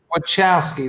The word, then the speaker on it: Wachowski: Wachowski, that's it.